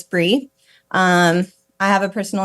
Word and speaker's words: Brea: and I spell it B rea, but I always tell people it's Bri like the cheese cuz people often say Bria or you know Brea or something like that. So it's Bri.